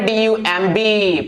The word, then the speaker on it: dumb: इसी तरह से और भी एग्जांपल है, DUMB पढ़ते हैं क्या, डम्ब, नहीं डम्ब नहीं पढ़ना है, प्लीज डोंट से डम, यू हैव टू से डम, डम, because D is silent, sorry, because B is silent, so that's why you